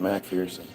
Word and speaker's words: McPherson: Americans abbreviated McPherson to McPherson. However, we still pronounced it Macpherson.